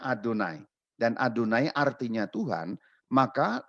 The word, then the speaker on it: YHWH: Itu 4 huruf yang dibaca Adonai. Jadi huruf itu nggak bisa dibaca, atau lebih tepatnya orang Israel tidak membaca 4 huruf itu, maka ketika mereka membaca 4 huruf Yod He Vav He itu, mereka membacanya Adonai.